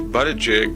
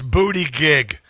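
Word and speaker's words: Buttigieg: So now Pete Butterjig is wearing a caterpillar. It's booty gig.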